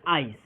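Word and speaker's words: ice: जब भी कहा गया है कि जब भी इंग्लिश वर्ड के अंत में ई आता है तो क्या होता है, ई साइलेंट हो जाता है।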